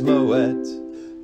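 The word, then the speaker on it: Moët: and then you'll be set and the correct pronunciation is moet talk and taste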